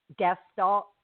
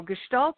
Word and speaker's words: Gestalt: yeah yeah well and okay so am I pronouncing that word right Gest Sal it's Gestalt you're very close G gestal okay gestal Coach